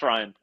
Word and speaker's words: Ryun: Spelled funny, but pronounced Ryan.